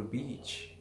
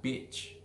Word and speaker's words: beach: beach if you speak too fast you will sound like bitch but you should sayI want to go to beach, not bitch.